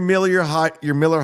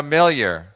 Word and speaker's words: Miller: Drink your Miller High Life. Feel your high life. Tell me when I can. Tell me Yeah, when I That's a new mispronounced brand, it. Gino. Millier.